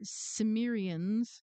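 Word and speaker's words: Cimmerians: And Perry Stone said 700 BC Samrians, it's spelled C I M R I A I A Ns.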